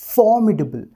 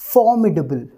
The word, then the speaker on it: formidable: तो जब हम स्ट्रेस पर वाली साउंड के ऊपर देंगे तो फिर हम इसे किस तरह से प्रोनाउंस करेंगे फॉर्म्सीडेबल फॉर्म्सीडेबल फॉर्म्सीडेबल फॉर्म्सीडेबल एक बार